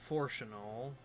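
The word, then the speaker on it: Fourchenault: Forchanal. Forchanal? French. It's annoying.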